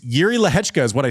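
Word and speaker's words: Jiří Lehečka: more credit to Yuri don't you dare pronounce that Jay it is yui leka uh played great maybe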